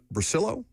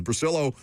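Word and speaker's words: Bricillo: Lucas said in his update, you get Carmen Brasillo. I hope I'm saying that correctly. Is that the correct pronunciation? Yes. Brasillo, former Giants offensive line coach.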